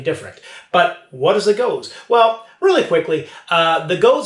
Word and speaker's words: gose: be tasting the beer is known as a goes and it is spelled g-o-s-e now goes style beers sometimes get